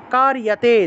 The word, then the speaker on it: কার্যতে: জাতু তিষ্ঠাত্য কর্মকৃৎ, কার্যতে, যতে আছে উচ্চারণ হবে ইয়াতে।